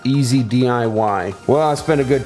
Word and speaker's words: EZ-DIY: how to pronounce that is it as de as de as Daei and then I realized it's oh it's it's easy DIY well I spent a